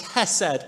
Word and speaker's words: hesed: The Hebrew word here is a word that's pronounced hesed, H-E-S-E-D.